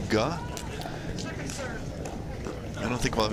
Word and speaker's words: Ge: It's spelled GE, but we have confirmed that it's pronounced Ga.